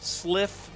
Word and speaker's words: Sliph: The first mix is Serpentine Anthem Sliff Remix. That's spelled SLIPH.